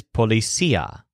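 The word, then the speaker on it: policía: do about it Joel's word for policeman is policia where the stress on see because the policeman can't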